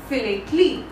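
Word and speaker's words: philately: और इस collection of stamps को, इसकी हॉबी को क्या कहा जाता है, इस हॉबी को कहा जाता है फिलेटली. तो हम फिलेटली की स्पेलिंग यहाँ से कट करेंगे और यहाँ पे हम आंसर लिख देंगे, फिलेटली.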